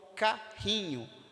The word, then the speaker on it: carrinho: nascimento e a mesma forma com carrinho o RR apresenta apenas um som então percebe oito letras